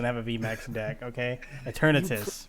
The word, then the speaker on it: Eternatus: Okay, Eternatus, right?